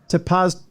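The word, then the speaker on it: Tepoztlán: How do I pronounce this? Tepoztelan. So Tepoztelan. Tepoztelan. Yeah, that would be it.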